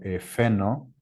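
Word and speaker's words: φαίνω: encima de él y faino o mejor dicho efeno así se pronuncia de hecho Ahí viene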